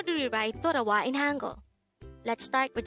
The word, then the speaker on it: 돌아와: daihango word number 165 this is pronounced as a three-syllable word the first syllable is tor second syllable is a and the third syllable is wa pronounce it with me